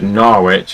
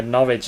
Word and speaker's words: Norwich: sounds like porridge, but it's not. It's Norwich. Well, it's not Norwich. The only reason why it's not Norwich is because there's a Northwich near me.